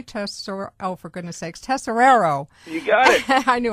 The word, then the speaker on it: Tesoriero: Tesoriero, oh, for goodness sakes, Tesoriero.